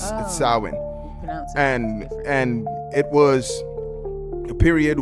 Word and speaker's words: Samhain: It actually is spelled like Samhain, but it's Samhain.